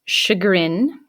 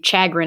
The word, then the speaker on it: chagrin: to save others perhaps the fifth one is pronounced chagrin so i don't want to hear anyone say chagrin or anything like that that's a common mispronunciation